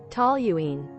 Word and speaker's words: toluene: Yeah, I was saying the U before the L. So after all that, you get hydrogen peroxide. Hydrazine? What's hydrazine used for? Hey chat, toluene sounds better than toluene.